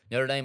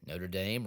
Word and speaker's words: Notre Dame: Notre Dame rhymes with lame, dislike.